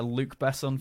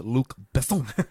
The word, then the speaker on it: Luc Besson: That's a Luc Besson film. I believe it's pronounced Luc Besson.